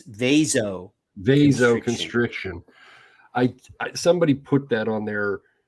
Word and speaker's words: vasoconstriction: There's no IO. It's vasoconstriction.